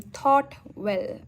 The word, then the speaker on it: ThoughtWell: Yes, and that's why it goes by the name ThoughtWell, and it rhymes with taught well as well.